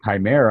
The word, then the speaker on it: chimera: it tells me and it's like Chimera I'm like that it makes a k the CH makes a